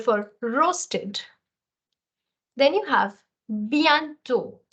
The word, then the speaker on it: bientôt: Then you have bientôt. The last T is not sounded.